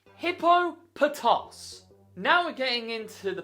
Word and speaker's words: Hippopotas: And yet, some stupid people call it Hippopotas. Why? It is not Hippopotas. Nowhere has it ever been called Hippopotas in official media. It is pronounced Hippopotos.